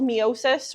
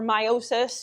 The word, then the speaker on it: meiosis: This happens through a process called meiosis or meiosis. You can pronounce it either way.